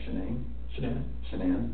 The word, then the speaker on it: Shanann: And I don't want to pronounce her name wrong, Shanann?